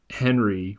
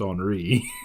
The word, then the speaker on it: Henri: French priest, Father uh We've always said uh Henry when we first started, and I kind of realized like you know, 10 or 15 years into it, I was like, "Oh, it's probably pronounced Henri."